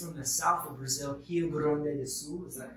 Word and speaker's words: Rio Grande do Sul: She is from the south of Brazil, Rio Grande do Sul. Is that correct? Is that how you pronounce it?